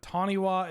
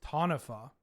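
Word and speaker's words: Taniwha: But Taniwa is pronounced Tanifa. Oh, it's from Maori folklore, and the wa is an F?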